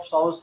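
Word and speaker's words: psoas: इट इज दी स of attachment of एलियो एलियोस forceful construction of साउस कैनोल्यूट मतलब वही बात है अगर एलियोस मसल यहां पर अटैच होता है ये पी यहां पर जो है साइलेंट है तो एलियो साउस मसल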